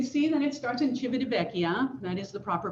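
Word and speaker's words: Civitavecchia: so you can see that it starts in chibidibeckia that is the proper pronunciation i speak a little italian um so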